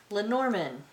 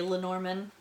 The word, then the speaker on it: Lenormand: Okay, and last, Lenormand. At least that's the way I pronounce it.